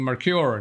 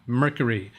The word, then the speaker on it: Mercure: First, you're correct on version 1 of my name, meaning Mercure, not Mercury. In fact, your first pronunciation is spot on. I thought of another alternative, Mercure. Is that more French?